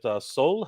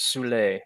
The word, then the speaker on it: Soule: It is French. It is pronounced Soule. However, it is also English. It is pronounced Soul, but here in America we call it Soul.